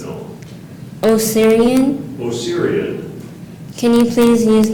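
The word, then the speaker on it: Osirian: it's an as to are there any alternate pronunciations no oyan oyan can you please use this word in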